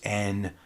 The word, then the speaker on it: Н: And then the backwards N is pronounced E, and it means and if it's by itself. There's also this one, looks like an H, but really it's pronounced like an N.